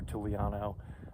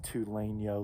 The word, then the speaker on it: Tulainyo: pronouncing it wrong before tuliano i think it's tulane yo lake which is right